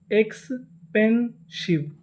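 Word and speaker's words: expensive: क्या पढ़ते हैं शिव आखिरी में इ लिखा है इ का उच्चारण नहीं करना तो पूरी meaning एक्सपेंसिव एक्सपेंसिव एक्सपेंसिव एक्सपेंसिव का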